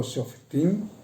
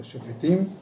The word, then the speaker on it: Shofetim: de la Torá, que lleva por un título Shoftim, o Shofetim, como lo queramos pronunciar, va a estar entre